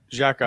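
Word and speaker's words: Tkachuk: care he's gonna run um how do you pronounce his last name Jacki Jacki yeah he's gonna run him just like he's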